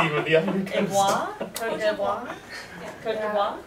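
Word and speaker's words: Côte d'Ivoire: Cote d'Ivoire? Cote d'Ivoire? Cote d'Ivoire.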